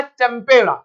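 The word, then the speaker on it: tempera: इसका इटालियन नाम क्या है, इसका इटालियन प्रोनाउंसिएशन होता है टेम्पेरा।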